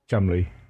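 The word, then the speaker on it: Cholmondeley: Just spell it like Chalmondley. how it doesn't sound. It's spelled Chalmondley. Chumley. Oh my god, it is pronounced Chumley?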